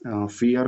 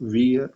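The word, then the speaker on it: vier: तो फियर को वियर मत बोलिए, फियर बोलिए, क्योंकि वी को हम लोग एफ बोलते हैं, ठीक है, तो फियर होगा, ये कॉमन मिस्टेक होता है सबसे।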